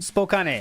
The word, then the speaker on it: Spokane: I thought it was Spokane, but people are saying you pronounce it Spokane. Spokane cuz it's only 2 hours away.